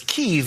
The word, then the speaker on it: Kyiv: Some have wondered why we're pronouncing Ukraine's capital as Kyiv instead of Kiev. That's because Kyiv is how Ukrainians say it. Kiev is how Russians say it.